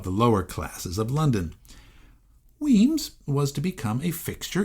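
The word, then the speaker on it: Wemyss: should be said as whis by the way it should properly be pronounced weams as it is in his native Scotland so that's what I'm going to do from now on weams came to Philadelphia in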